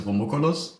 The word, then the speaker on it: Rumukulus: I think the way I've been pronouncing it is Rumukulus, which is just pronounce it like you would if it was a German word.